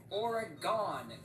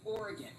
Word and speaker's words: Oregon: chopping down the trees shout out to this actor for pronouncing Oregon correctly because every godamn person on the planet seems to say or Aon when they're making videos filming a more like or I have not heard a single person in my life pronounce it that way it is Oregon all of us say